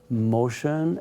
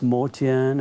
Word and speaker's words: Motian: that we met him called himself motion and before it was mortian and then it was motion again so the family name is modi and that's how it's been pronounced it was all armenian and both his mother